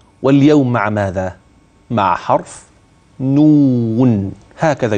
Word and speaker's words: نون: مع حرف نون، هكذا ينطق نون، كيف يكتب؟